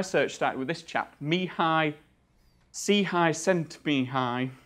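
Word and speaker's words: Csikszentmihalyi: start with this chap me high C high cent being high that's definitely how you pronounce it sorry if I've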